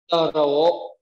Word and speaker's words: trổ: Anh chị lưu ý âm trở chúng ta không đọc là trở mà chúng ta đọc là tờ rơ, tờ rổ, tờ rổ ngay.